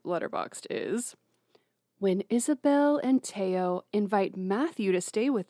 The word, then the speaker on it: Theo: Here's the thing: you say Teo, but like it's spelled Theo. Yeah. Yeah, which is what I was calling him. It's French.